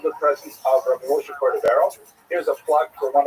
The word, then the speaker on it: Cordovero: Rabbi Moshe Cordovero, known by the acronym Rama, was a brilliant teacher. He was Portuguese. His name is actually Cordovero, but people pronounce it Cordovero by mistake.